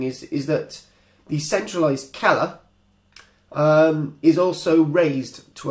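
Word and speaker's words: cella: is known as a kella spelled c e l l a. In Latin C is pronounced with a k for those who don't know.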